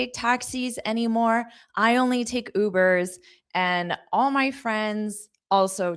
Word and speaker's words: Uber: Notice the pronunciation is that long oo. Uber.